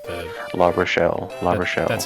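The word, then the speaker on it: L'Arachel: La Rochelle. La Rochelle, okay. I'm trying to break my La Rachel.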